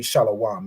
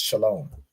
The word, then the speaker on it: Shalom: word shalawam or this it would really be pronounced Shalom right because this W isn't it's not a consonant it's an added vowel so even in this it wouldn't be shalawam it would be pronounced